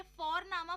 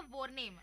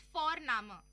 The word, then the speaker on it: Vorname: और जर्मन में हम जिस तरह से लिखते हैं, लिखना और प्रोनाउंसिएशन अलग होता है, तो इसलिए तुम सी साई में कंफ्यूज हो जाते हो. और हम यहाँ पे फोरनामा प्रोनाउंस करते हैं बट लिखते हैं उसको VORNAME. ओके, तो वो हम इंग्लिश के अनुसार प्रोनाउंस करेंगे तो बनेगा वॉरनेम, बट नो, इट्स फोरनामा.